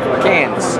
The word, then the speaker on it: Cairns: Cairns, because I never can say it right. How do you do it? No, no R. No R. No, it's C-A-R. C-A-I-R. N-S. No R. Cairns.